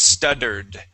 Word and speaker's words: stuttered: So we do pronounce that double T as a D, so it's stuttered.